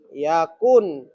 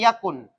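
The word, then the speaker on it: يَكُنْ: Ya, wau mati, nun mati, hilang wau. Makanya bacanya yakun. Jangan sampai kamu bertanya mana wau nya. Wau mati, nun mati, tidak boleh dua huruf mati berurutan, hilanglah wau. Makanya yakun bacanya.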